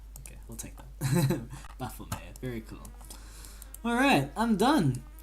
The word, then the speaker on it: Baphomet: How to pronounce it correctly. Okay. Baphomet. Okay, we'll take that. Baphomet.